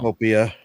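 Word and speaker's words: Pokopia: Pocopia. Pocopia. Pocopia. Man, and I just got used to calling it Like Utopia.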